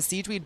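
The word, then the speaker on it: Sigewinne: way we'd be able that's how I'm saying it Siege because that's how they say it in the game but it's it's spelled almost like sigin s i g e w i n n e she's the little she's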